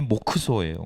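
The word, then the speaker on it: モクソ: 목사라는 것만 알고 있었는데 목사의 일본식 발음이 모쿠소 모쿠소 그래서 그 이후로도 아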